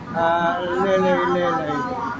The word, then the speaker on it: Maharajalela: How do you pronounce that? Maharajalela.